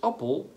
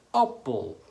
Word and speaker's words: appel: Het woord appel heeft twee lettergrepen, twee klanken en een klemtoon op de A. Appel.